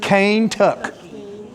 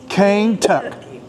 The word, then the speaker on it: Kentucky: Look at the way they spelled Kentucky. K-A-I-N-T-U-K-C. Exactly the way they pronounced it, my dear. Cane-tuck. Cane-tuck.